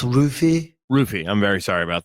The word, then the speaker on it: Ruffy: Ruffy from Fighting Nerds tweeted out that he would. I do believe it's pronounced Roofy.